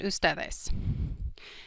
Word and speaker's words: ustedes: Both are pronounced ustedes.